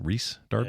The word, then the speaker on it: Rhys Darby: And they hired Rhys Darby, or Reese, I think is how you say it. Reese Darby? Yeah, I think it's Reese.